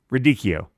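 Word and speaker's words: radicchio: number two number four ricio rikio rikio that's it pronounce it correctly don't don't be ridicu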